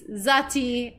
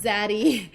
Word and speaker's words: Zati: Oh, it's Zati, not Zaddy. Sorry. We're all from like the Midwest, United States. We don't pronounce our T's. Yeah, we don't pronounce the T's very much.